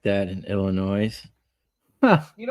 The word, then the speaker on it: Illinois: You got a few roads like that in Illinois. Huh? You don't pronounce the S in Illinois. Oh, Illinois.